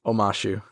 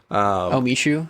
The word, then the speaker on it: Omashu: It is Omashu. I was in a very similar ballpark. You had like an extra syllable. I did. In there. Omashu. Omishu?